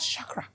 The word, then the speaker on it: chakra: I didn't say chak you can't pronounce it chak chak it is called Shakra Shak and I simply say